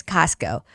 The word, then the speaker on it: Costco: But in English it's ca coco. It's like a casco. Okay. So it's not co it's casco.